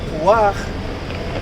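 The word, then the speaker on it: פוח: It's pronounced puach, and it defines as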